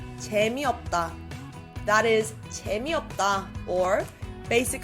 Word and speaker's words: 재미없다: 재미없다. 재미없다. One more time. 재미없다. Notice how the S on the end there is silent.